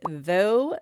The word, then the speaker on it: though: In the word though, they make the o sound.